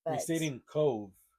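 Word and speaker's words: Cobh: we stayed in Cove, but it's spelled C O B H. That's right. BH is V.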